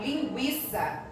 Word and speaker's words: linguiça: Quando eu falo linguiça, eu falo tanto G quanto U. Então, não é um dígrafo, tá?